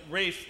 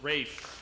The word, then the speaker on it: Ralph: Matamoros and we have Rafe rraw his name is spelled Ralph but in Britain in this time it was pronounced Rafe and that's John craft in